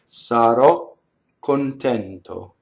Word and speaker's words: sarò contento: So sarò, you go up to the K and you don't say it, and then you say it. Sarò contento.